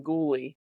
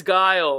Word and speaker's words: Guile: Who was it in our family that you kept calling him ghouie? I can't remember. Whenever we would play Street Fighter like I'm Ghouie, it's Guile.